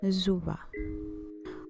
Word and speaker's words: Zuba: One common word or expression is Zuba, which is usually spelled and pronounced with a Z sound instead of an S in many Bantu-derived languages, as in Zuba.